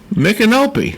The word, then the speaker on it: Micanopy: have you ever heard of a place called Micanopy? I love that city. At least you pronounced it right. Yeah. Micanopy.